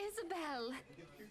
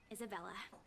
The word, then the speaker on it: Isabella: Oh, Isabel! How are you feeling? You looked awfully dreadful yesterday. Why would you tell me that? Isabella. And she still got my name wrong!